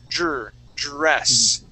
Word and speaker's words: dress: Remember, class, when you pronounce a D and an R, you want to create one sound instead of saying der, s. Okay, you want to. It's going to be one sound together. Dr, dress.